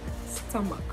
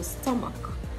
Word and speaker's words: stomach: to Mark infrastructure no this word is stomach stomach look at the transcription you have that ah sound a sound and then you have the shua sound at the end so stomach stomach stomach my stomach